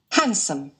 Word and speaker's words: handsome: handsome, Handsome. Ok, handsome, nghe lại. handsome, Ok. handsome, Anh Mỹ thì sao? Handsome. Đấy, handsome, Handsome. handsome trọng âm đầu đây, phiên âm đây.